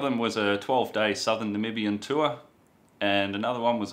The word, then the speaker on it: Namibia: It's pronounced Namibia. A lot of people have trouble saying that name. I've heard of Namibia or Nambia. It is Namibia and it's a beautiful country.